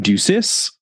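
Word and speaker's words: Ducis: Village is called kingsburn DUIs that's spelled duci i s I believe that's how it's pronounced in British English someone will let me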